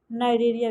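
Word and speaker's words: Cnidaria: तो इनको सिलेंट्रेटा या नाइडेरिया, पहले देखते हैं नाइडेरिया क्यों कहते हैं। जो सिलेंट्रेटा के मेंबर है उनको नाइडेरिया टर्म से क्यों कहा, प्रोनाउंसिएट किया जाता है, क्यों नाइडेरिया कहा जाता है, उसका रीजन है।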